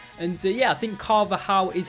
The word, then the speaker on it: Carvajal: and yeah, I think Carvajal is how you pronounce it. The thing that confuses me is he's got a J in his name, but you don't say the J, so yeah, I do